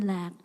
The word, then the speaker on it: lạc: You know, because happiness, in Vietnamese, lạc, pronunciation lạc.